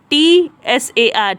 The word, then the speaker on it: Tsar: अब उस time Russia का जो राजा हुआ करता था उसे कहते थे Tsar, TSAR, Tsar प्रोनाउंस करेंगे और उसे लिखेंगे स्पेलिंग TCZAR, Tsar।